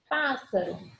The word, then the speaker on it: pássaro: Pássaro. Uma proparoxítona, antepenúltima sílaba tônica, coluna da direita.